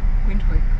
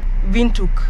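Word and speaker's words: Windhoek: way you spell wind wind quck yeah we we've been saying wind quck if you're not from around from South Africa or Namibia I'm sure you pronounce it wrong guess what it's called vuk where is the tea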